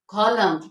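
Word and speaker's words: column: वो साइलेंट होता है अब इनको हम कैसे स्पीक आउट करेंगे कैसे प्रोनाउंस करेंगे कॉलम क्या प्रोनाउंस करेंगे इसे कॉलम ऑटम ऑटम टम टम हिम हिम तो इन सब में हमारा ये एन साइलेंट है आगे हम देख लेते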